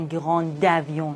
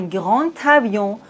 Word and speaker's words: grand avion: Le D se prononce T. Un grand avion. On doit pas dire un grand avion. Non, un grand avion.